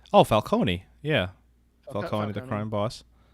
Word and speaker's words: Falcone: turturro i i can't even remember how to pronounce his name as carmen falcon oh falcone yeah calling the crime boss i don't think